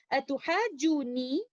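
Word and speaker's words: أتحاجوني: In Surah Al-An'am, ayah number 80, atuhajuni, you can see letter noon has a shadda. Originally, this word is like this. Atuhajunani. Both of the letters are mutaharrik, but due to ease of pronunciation, the first letter noon acquires a sukoon and merges into the second letter noon.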